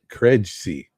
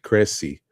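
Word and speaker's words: Krejci: one got me vit kregsy I think that Jay is silent I think it's vit Cressy um and Chris Silva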